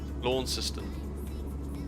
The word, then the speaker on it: Launceston: Launceston.